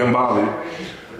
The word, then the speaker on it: Gambale: How you pronounce it? Gambale is.